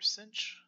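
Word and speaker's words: sinh: any event the three most important ones are cinch cosh and tan CH so this first note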